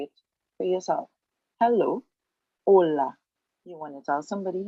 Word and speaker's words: hola: it's kind of similar in spanish the each is there it walks along with the rest of the world but it is silent so hello holla so